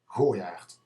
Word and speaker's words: Goijaart: Goijaart. A person from above the rivers would say Goijaart, but because of its origin, because of its heritage, and frankly because I say so, it should be pronounced Goijaart.